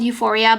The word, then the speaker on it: U4EA: It's called Euphoria, but it's spelled U4EA.